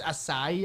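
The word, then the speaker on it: açaí: Also, it's acai, apparently, even though that pronunciation makes no sense based on how you spell the word.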